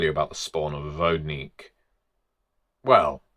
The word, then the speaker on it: Vodník: Well, pronunciation first of all, I was always taught Vodnik. You understand some people would just say Vodnik. Fine, fine, you can do that. Some people would say Vodunic. Point being they are a common myth spread across Europe, Germany, Austria, Czecha, Ukraine, Poland, lots of different pronunciations. We'll go for Vognik because that's what I know.